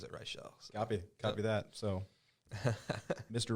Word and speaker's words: Reichel: It should be Reichel, but he pronounces it Reichel.